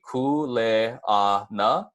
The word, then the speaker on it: kuleana: have cool a aa once more just so that you get it down it's gonna be cool eh ah nah and then you put